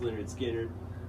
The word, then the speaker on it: Lynyrd Skynyrd: you probably all seen Lynyrd Skynyrd pronounced Lynyrd Skynyrd this I got when